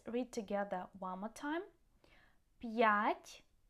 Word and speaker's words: п'ять: П'ять means 5, yeah? П'ять.